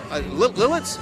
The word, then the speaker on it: Lititz: Now, we're in Lancaster County, which is just, you got Lancaster, we got Lititz, I think is what it's pronounced.